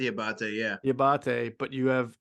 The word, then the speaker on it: Diabate: Is it, did I pronounce that correctly? Yeah, Diabate, yeah.